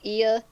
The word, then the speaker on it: Ea: his actual noble phantasm i think it's pronounced ia it's just the letters ea is like the noble